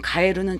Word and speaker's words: 帰る: 거 의미로 보시는 것이 맞습니다 같은 한자인데 다른 발음 이거는 지금 가에르는 자동사잖아요 한 쌍으로 기억하실 가에스 타동사입니다 JLPT n2급